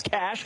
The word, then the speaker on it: cache: I would say cache, as we said in the military in Iraq. We found a weapons cache, but it is cash.